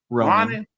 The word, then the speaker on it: Ronin: Ronin. Ronin. Like the samurai.